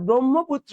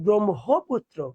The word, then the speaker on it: ব্রহ্মপুত্র: উচ্চারণ কি জান ব্রাহ্মণবাড়িয়া তোমরা যারা ব্রহ্মপুত্র বল এটাও ভুল বল কেন ওখানে এই এই বর্ণটা এই যুক্ত বর্ণটা থাকে সেটা হবে ব্রহ্মপুত্র কি হবে বলতো ব্রহ্মপুত্র ওকে তাহলে এবার হতে